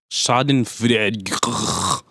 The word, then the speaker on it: Schadenfreude: it's like a guilty shite and Freud or schadenfreude I don't know how you pronounce it exactly schadenfreude thank you a cookie our resident German expert